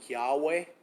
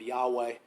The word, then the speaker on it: Yahweh: other translations as jehovah it's difficult to pronounce in the english probably yahweh is it's yhwh sometimes referred